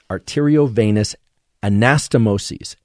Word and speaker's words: arteriovenous anastomoses: veins capillaries arteries if you like but I'll spell it for you a-r-t-e-r-i-o arterio Venus v-e-n-o-u-s arteriovenous anastomoses a-n-a-s-t-o-m-o-s-e-s arteriovenous ostomoses okay you want to know